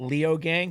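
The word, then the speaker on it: Leogang: You had a second place at Leo Gang. Did I pronounce that right?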